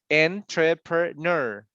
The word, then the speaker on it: entrepreneur: At the end is like ner. The last one is on the ner, like entrepreneur. Ner.